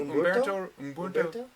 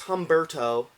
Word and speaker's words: Humberto: cannot say his name Umberto yes that guy Ramos we're trying to be cultural but yes really it's Humberto HTO HTO Humberto that I'm GNA meet